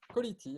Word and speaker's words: Callity: On est rejoint par Nicolas Patel de la société Colity, c'est ça? On prononce comme ça? Quality, exactement. Colity, génial.